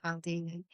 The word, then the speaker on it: Cialdini: Is it Robert Cialdini? Or Robert, that's how you say it, isn't it? Cialdini.